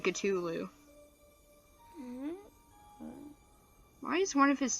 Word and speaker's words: Cthulhu: I'm saying his name wrong, I should be saying Cthulhu.